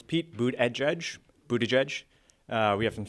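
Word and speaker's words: Buttigieg: energy odd so please tell us how to pronounce his name of n it's uh it's Pete boot at judge Buddha judge we have some stickers that have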